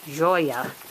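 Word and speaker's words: Joia: think we're gonna call her Joy oh joa Joya which means Jewel in Portuguese first they're gonna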